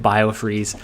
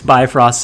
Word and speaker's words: Bifrost: to one-up it with bio-freeze i was so confident in the pronunciation too like i didn't even second-guess it it just oh this is so awful yeah it's bifrost samuel when it first